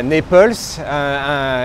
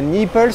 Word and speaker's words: Naples: Et bien voilà, nous sommes à Naples et non pas à Naples. Il faut faire très attention à la prononciation en américain.